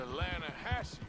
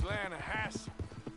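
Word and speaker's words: Lannahechee: You mean the Lanahatchee River? No. The Lanahatchee. It runs right near here. Yeah, but it's pronounced Lanahatchee.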